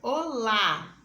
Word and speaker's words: olá: Na palavra olá, encontramos um exemplo. Perceba que o som da vogal A está mais forte.